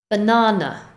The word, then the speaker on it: banana: We stress syllable number 2, so the first and third ones are weak with the Banana.